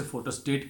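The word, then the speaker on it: photostat: फोटोस्टैट, हम उसे फोटोस्टेट कहते हैं, फोटोस्टैट।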